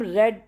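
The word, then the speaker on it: read: पहला कम last night इसे हम रेड पढ़ेंगे स्पेलिंग से रहती है प्रेजेंट में और पस्त टेंस में रेड पढ़ा जाता है सबसे मेरा सबसे पहला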